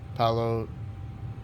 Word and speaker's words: Paolo: Yeah, that's how you say his name, Paolo Surfieri.